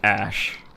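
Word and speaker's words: Æ: Oh, it's just pronounced like ash.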